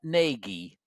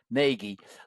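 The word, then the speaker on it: Gnagy: used to watch John Nagi learned to draw John Nagi his name is spelled g n a y John J O N ngie learned to draw and uh he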